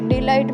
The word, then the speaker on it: delight: DELIGHT डिलाइट में आई के बाद में GHT है तो आई का उच्चारण आई से किया जाता है।